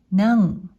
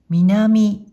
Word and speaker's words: 南: 音読みで南、南。訓読みで南、南と読みます。